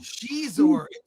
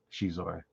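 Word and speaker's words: Xizor: that into a film Shor sh Shor yes we uh Chinese pronounce X is differently um let me see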